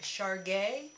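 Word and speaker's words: Chergui: I just have this one, and I can make more up, but I just have this one, and let me pronounce it right, Char Gay.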